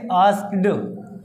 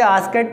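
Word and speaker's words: asked: और इसकी second form हो जाएगी आस्क्ड, है ना। बहल का सा आपको थोड़ा यहाँ पर वोकल कंड में ध्यान देना, आस्क्ड, है ना। या कि कुछ बच्चे आस्केट पढ़ते हैं पर वो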